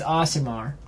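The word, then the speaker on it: Aasimar: yeah in the summer the how we pronounce it last week which we could actually be wrong is awesome are not summer but I'm pretty sure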